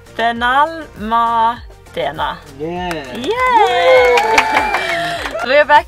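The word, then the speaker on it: Benalmádena: I think I said it wrong again, yes. Benalmandena.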